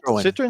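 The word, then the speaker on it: Citroën: Citroen?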